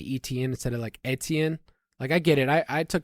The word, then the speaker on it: Etienne: I also see a lot of people that get mad when we say ETN instead of Etienne.